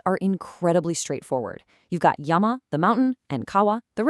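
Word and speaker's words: 山: Its anomi is son or zan, and its native kunomi is yama.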